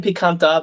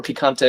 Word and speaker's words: picante: Some people saying picanta, but I'm pretty sure picante is how you say spicy in Spanish.